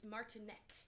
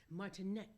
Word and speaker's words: Martinek: Or Martinek, or how do you pronounce it? It's Czechoslovakian, Okay. so it's Martinek. Martinek.